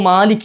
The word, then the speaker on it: مَالِكِ: ഓതുന്ന ശൈലി ഖിറാത്ത് അനുസരിച്ചിട്ട് മാലിക്ക് എന്ന് തന്നെയാണ് ഓതേണ്ടത് മാലിക്കി ല്ലേ അപ്പ അത് എന് ചെയ്യാൻ പാടില്ല സ്പീഡിൽ ഓതുമ്പോൾ മലിക്കി ആയി പോകാൻ പാടില്ല അപ്പോ അതൊരു തെറ്റാണ് എന്ത് മാലിക് അപ് മാലിക്കിൽ